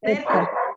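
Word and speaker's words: ζῆτα: ¿Cuál es Zeta. la? No sé por qué se pronuncia Zeta. como con una D al principio, ¿cierto?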